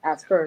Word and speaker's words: Asperger's: with school placement for her son that has Asperger's. Is that how you pronounce it? Yes, Asperger's.